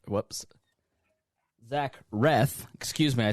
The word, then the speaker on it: Reath: My guest is Facebook friend Zack Breath. Whoops. Zack Wreth. Excuse me, I said breath because my my pronunciation here says breath and I I read that instead.